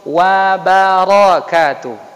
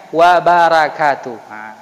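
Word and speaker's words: وبركاته: pas Assalamu'alaikum Waroh warohmatullohi wabarokatuh jangan wa barakatuh kalau wabarakaatuh jadi huruf-hurufnya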